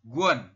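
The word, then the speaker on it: 권: Ini dibacanya adalah guon. Giok. Vokal rangkap U dan O dibaca wo. Ini yang tengah teman-teman. Yang tengah itu kan vokal rangkap U dan O. Jadi dibacanya adalah wo.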